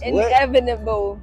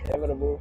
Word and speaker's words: inevitable: It's inevitable. What? How you say it? Inevitable. Inevitable. Inevitable. So you gotta lean on that end more.